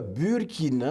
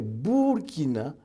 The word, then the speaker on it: Burkina: Alors, ce n'est pas du français. Voilà pourquoi on ne dit pas Burkina, mais Burkina, parce que le U, dans ma langue maternelle, se prononce OU.